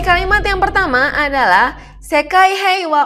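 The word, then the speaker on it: 平和: Yang pertama, sekai heiwa. Ya, dibacanya wa.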